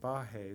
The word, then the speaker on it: Baje: thanks joey and thank you for pronouncing my last name correctly yeah no one else like i well there probably are just a couple of people who are uh non-immigrants who can pronounce my name correctly because of the h sound but yeah thank you